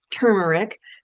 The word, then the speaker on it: turmeric: Curcumin is from turmeric. Please don't say turmeric. That's the incorrect pronunciation.